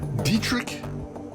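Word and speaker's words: Dieter: part-time Shaman more correctly you put a hard T in the middle dietr D dietr what a hard te all right I thought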